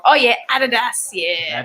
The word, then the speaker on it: Adidas: It's a German company, so you say it right, girl. We say it wrong. Oh yeah, Adidas. Yeah. Adidas.